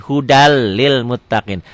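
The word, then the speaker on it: هُدًى لِّلْمُتَّقِينَ: Hudan lil muttaqin dibacanya jadi hudal lil muttaqin.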